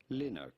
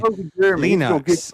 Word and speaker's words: Linux: Linux. Who was it? He's not. He's just saying. I'm not mad about that. Why are you mad about it? He's not. Well, who says he's mad about it? Linux.